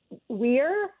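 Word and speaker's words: vir: But in probably older forms of Latin and common Latin that V would have been pronounced like a W, but in church Latin like a V.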